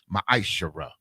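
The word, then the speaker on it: מַעֲשֵׂר: You can find this in Numbers 18 and 21 and Malachi chapter 3, verses 8 through 10, means 10th in the Hebrew and is pronounced ma'ashara.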